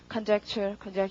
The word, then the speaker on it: conjecture: 연결해서 발음이 conjecture 이렇게 되겠죠. 젝트의 강세 있고요.